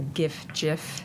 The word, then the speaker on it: GIF: across a lot yes I for obvious reasons come down on the hard G side yes Gil likewise yeah um but uh you the G and GIF is short for graphics Nots definitely a g thing nothing nothing but a